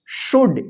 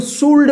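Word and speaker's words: should: एल आया है ना, तो डी से पहले एल रहेगा तो क्या होगा एल साइलेंट रहेगा, तो इसको क्या पढ़ेंगे शुड, इसको शुल्ड मत पढ़िएगा, शुल्ड, शुल्ड गलत हो जाएगा, शुड, शुड का मतलब होता है चाहिए।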